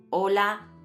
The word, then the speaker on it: hola: Y como la letra "h" es muda, hay algunas palabras que, aunque se escriben de forma distinta, se pronuncian igual. Como "hola" con "h" y "ola" sin "h" y "hojear" con "h" y "ojear" sin "h".